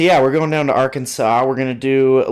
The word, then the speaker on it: Arkansas: Our Kansas. Our Kansas. Yes. As the locals say, I've been told. Because English is messed up. You're messed up. Uh, so yeah, we're going down to Arkansas.